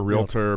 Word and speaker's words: realtor: Realtor. People pronounce it wrong all the time.